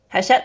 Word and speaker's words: Hachette: And we have Laura Gale, and she got her start as a publicist for Hachette. How do you pronounce it? Hachette, that's right.